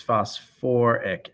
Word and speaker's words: phosphoric: with that and phosphate instead of just going to phosphic it's phosphoric acid and then lastly this one is called phosphite po3 minus three so that one instead of going to phosphos it's phosphorus acid so you want to be careful with any acids that have either sulfur or phosphorus they have an extra syllable of ur or or so let's take a couple